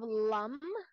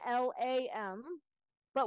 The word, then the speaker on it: Lam: lamb it's lump and we emphasize the consonant sound because that's where all the energy is so you want to